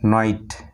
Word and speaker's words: knight: তারপর KNIGHT নাইট, নাইট। KNOW নো, নো। KNOCK knock. এখানে কে প্রত্যেকটা ওয়ার্ডে কিন্তু এখানে কে এর উচ্চারণ হচ্ছে না, NOCK নক, NOB নব, কে এর উচ্চারণ হচ্ছে না।